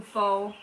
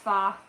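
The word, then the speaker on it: phở: I've been really craving some fo or fa. It's pronounced fa.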